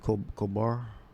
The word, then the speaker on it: Colbert: I believe the Late Show, the Colbert, Steve Colbert. That's how you pronounce his name.